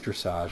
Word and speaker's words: dressage: a sport called dressage is it dressage hmm perhaps it's perhaps it's pronounced that way I don't know yeah it is dressage I just looked it Wikipedia yeah yeah dressage I guess it's an